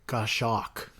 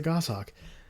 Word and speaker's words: goshawk: I had to look up a video on how to pronounce that because it looks like goshawk. But yeah, that's a goshawk.